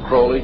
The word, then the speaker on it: Crowley: have his name pronounced Crawley to rhyme with holy and uh the satanists